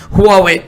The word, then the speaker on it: हुआवे: बहुत सारे लोग इसको हुआई बोलते हैं, लेकिन एक्चुअली में जो इसका सही प्रोनाउंसिएशन है हुआवे।